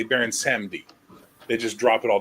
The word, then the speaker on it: Samedi: Well, hence why I'm giving you a proper pronunciation of Baron Samedi. And I appreciate it. So it's Baron Samedi.